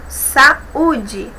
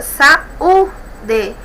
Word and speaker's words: saúde: Por exemplo, saúde, observem, U é a sílaba tônica, saúde, não tem o NH depois, então eu tenho aqui, o acento agudo, tá bom?